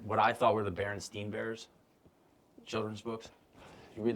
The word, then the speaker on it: Berenstain: Uh Randy, are you familiar with the Beren Beren what I thought were the Berenstain Bears children's books?